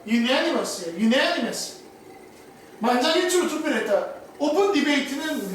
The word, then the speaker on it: unanimous: 그래서 발음이 on이 아니라 un인 거야. unanimous.